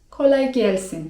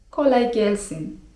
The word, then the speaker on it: kolay gelsin: memnun oldum) Jak już jesteśmy tutaj przy takich zwrotach grzecznościowych to myślę, że przydatnym zwrotem jest też: kolay gelsin (czyt. kolaj gelsin) Dosłownie tłumacząc oznaczało by to 'niech ci lekko przyjdzie'.